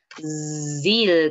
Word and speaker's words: Brazil: Brazil, como si tuviéramos un mosquito zumbándonos en la oreja.